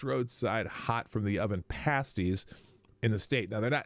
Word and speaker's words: pasties: and the best roadside hot from the oven pasties in the state. Now it's spelled P-A-S-T-I-E-S.